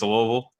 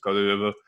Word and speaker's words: Louisville: It's Louisville. You have to like pretend like you just Novocaine'd up most of your mouth and then go Louisville. And that's how you pronounce the name of my city.